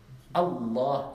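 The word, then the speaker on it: الله: Est-ce qu'on dit Allah ou Allah? Allah, il y a une shidda.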